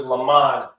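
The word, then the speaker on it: למד: And the pronunciation of the word in Hebrew is lamad.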